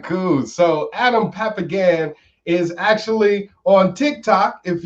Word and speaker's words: Papagan: Am I saying that right? Papagan, but however you want to say it, I believe in freedom of speech. So however you want to pronounce my name is fine with me. No, let me get it right. Adam Papagan. All right.